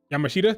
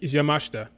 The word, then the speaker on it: Yamashita: name up m yamashta i was say her name wrong for the longest time I saying Yamashita that's not how you say it yamashta Miu yamashta very talented